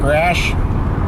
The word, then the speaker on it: Raasch: I've got him in my like category, and it's RAASCH, Mark Rash.